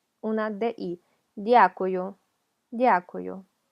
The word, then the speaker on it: дякую: Hay gente que lo escucha como y-a, дякую, pero es d. Hay que pronunciar la d, o sea, tocar con la lengua, se me olvidó cómo se llamaba, las encías, дякую, y así nos va